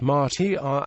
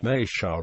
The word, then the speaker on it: Matia: Matia is correctly pronounced Matia, but is more often called Matia by the locals.